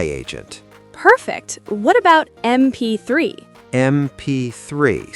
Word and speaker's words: MP3: MP3 starts with M, so an MP3.